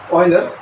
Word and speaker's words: Euler: ही इसके अंदर है यूजर एक्चुअली प्रोनाउंसिएशन होगा ऑइलर इसका प्रोनाउंसिएशन होगा ऑइलर